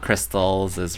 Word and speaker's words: Crystalsis: I pronounced my name Crystalsis. It's... So the rain part is just because Crystalsis was taken. I didn't know what else to put there. So, like, the rain doesn't have any meaning. Butterfly! Tiger, swallowtail, butterfly. Fancy. And then, not crystals. Yeah, it's not crystals is rain. It's Crystalsis.